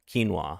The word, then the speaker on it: quinoa: Yeah, quinoa. Yep, that's how it's pronounced.